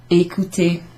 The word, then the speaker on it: écouter: Manger, écouter. Écouter. Two accents there over the E's, so they're both pronounced the same way.